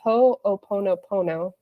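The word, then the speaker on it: Hoʻoponopono: It's it's supposed to be pronounced ho ponop po.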